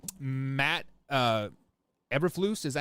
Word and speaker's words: Eberflus: Eberflus, is that how you say his name? Eberflus? Eberflus, yeah.